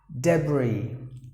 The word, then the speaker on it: debris: You have to pronounce the word as debris, silencing the letter S.